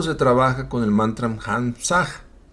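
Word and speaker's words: Hamsah: trabaja con el mantram Hamsag. Se pronuncia hams se escribe h a m s a h.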